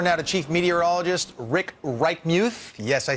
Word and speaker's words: Reichmuth: We turn now to Chief Meteorologist Rick Reichmuth.